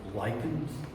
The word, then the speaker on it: Likins: Um my family names lychans uh pronounced like the moss and uh it has several different spellings.